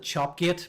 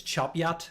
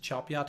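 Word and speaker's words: Chop Gate: And I always call it Chopgate, but apparently it's Chopyat. If you're from that part of the world, you pronounce it Chopyat.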